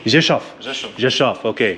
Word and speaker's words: Rzeszów: It's Rzeszów. Rzeszów. Rzeszów. Rzeszów. Okay, I've been mispronouncing it all morning. I've been saying Rzeszów. Nay, Rzeszów. Rzeszów. Rzeszów. At least I got the V right.